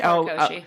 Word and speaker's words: Horikoshi: Horikoshi. Thank you. I butchered the name, and I'm so sorry for that.